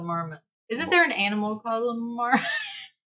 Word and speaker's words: Marmot: if you can't tell i heard somebody say the t is silent on this brand but i don't think it is marmot i think it's still marmot isn't there an animal